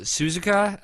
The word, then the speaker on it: Suzuka: Suzuka, So Suzuka, is that right?